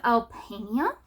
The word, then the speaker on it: Alpania: Then we have Albania. That's how you pronounce that one.